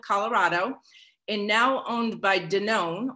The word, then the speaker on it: Danone: and now owned by danone or as some of you might pronounce it dannon you might know it